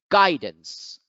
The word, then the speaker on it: guidance: fortune next we have guidance guidance guidance here you find that the apostrophe is over the first syllable guy while the second